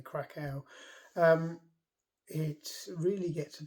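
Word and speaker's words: Kraków: um and down and crack off down or krackow whichever way you can pronounce it it's spelled c a k w so I'll say krackow um it really gets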